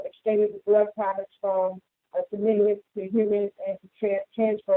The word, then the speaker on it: simian: Recent discovery suggested the virus probably caused from chimpanzees and other non-human primates infected with this is pronounced Simian, Simian, infected with the Simian form of HIV called